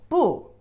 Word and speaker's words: 不: It alone, its pronunciation is the fourth tone, 不. And the rule, sometimes it doesn't pronounce the fourth tone. If it's alone or before the non-fourth tone, if it put before the non-fourth tone, it's always pronounced as the fourth tone. However, if put it before the fourth tone, you need to pronounce it the second tone.